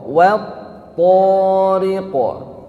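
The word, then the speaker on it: وَالطَّارِقِ: itu Ada wat thoriqo waau wau ini hurufnya tipis ya ketemu dengan tho tho hurufnya tebal maka hati-hati pengucapannya jangan sampai Wato jadi WAnya jadi tebal wo ya wasama w thqo w thoriqo WAnya tipis begitu masuk ke tho thnya tebalkan dan ingat di th itu ada tasdid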